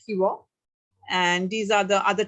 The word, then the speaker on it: Shiva: assamese we call it so that shiva is pronounced as hiwa and these are the